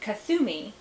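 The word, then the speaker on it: Kuthumi: ray of freedom is for st germain and kathumi k-u-t-h-u-m-i a name from the incarnation as a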